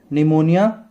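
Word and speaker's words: pneumonia: डी for diphtheria और dysentery, T से typhoid और tuberculosis, निमोनिया, plague, P silent है निमोनिया का, और प्लेग, कॉलेरा, लेप्रोसी,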